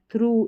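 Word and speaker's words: through: थ्रू इसमें उ का साउंड आ गया। अब मैं अगर यह वाली स्पेलिंग लूं ना कॉफ वाली तो यहां पर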